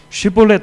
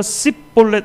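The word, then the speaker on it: שיבולת: 쉿볼렛 발음해봐 하면은 북쪽의 사람들은 그 쉬라고 하는 sh로 발음이 안 되는 거예요. 그래서 씹볼렛 이렇게 발음을 하는 거죠.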